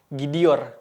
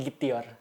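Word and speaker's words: gidiyor: kemudian I lagi gitu jadi t-nya harus diganti ke huruf d Jadi dibacanya dan ditulisnya adalah gidior bukan gitior Oke ingat-ingat teman-teman lanjut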